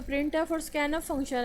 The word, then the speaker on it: printf: The function प्रिंट एफ is pronounced as प्रिंट एफ। हम इसमें प्रिंट और उसके बाद जो एफ़ है उसको हम जो है इस तरह से प्रोनाउंस करते हैं, प्रिंट एफ, E double F, यहाँ पे एफ़ के लिए जो है यहाँ पे उसकी साउंड है।